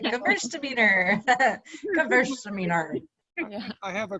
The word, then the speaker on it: Gewürztraminer: Wait, the it's like Gewürztraminer. Gewürztraminer. Yeah. I have a collection of mispronunciations of Gewürztraminer. So Or yeah. some of them, yeah. Squirtzaminer is my favorite.